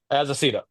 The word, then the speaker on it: Azaceta: then Seasons number 5 from Rick Remender and Paul Azita, or how do you pronounce As a that? Cita. Azaceta.